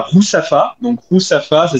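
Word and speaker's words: Ruzafa: aux façades coloré et ensuite on irait à rousafa donc rousafa ça s'écrit r u il y a deux orthographes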